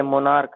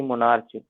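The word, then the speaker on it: monarch: जैसे मोनार्क है, हम लोग मोनार्क कहते हैं ना कि मोनार्च, ठीक है, तो इस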